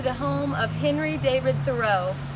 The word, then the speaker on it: Thoreau: home of Henry David Thoreau or more correctly pronounced thorough he was friends with Ralph